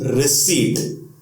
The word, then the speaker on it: receipt: सो in this word P is silent, so the pronunciation will not be receipt, the pronunciation will be receipt.